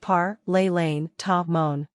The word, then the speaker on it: parlez lentement: Parlez lentement means please speak slowly and is pronounced par, les lane, ta, mon.